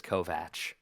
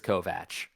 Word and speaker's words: Kovach: And they said Kovatch. And I'm like, Kovatch? That's how it's pronounced. That's my name. So, I'm pretty sure it's Kovatch, but could be wrong.